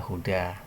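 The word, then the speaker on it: هدى: Ini ada alif lazimah, atau biasa dikenal dengan alif bengkok. Nah, maka bacanya huda.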